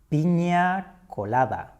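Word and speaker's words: Piña Colada: The ñ is pronounced ñe.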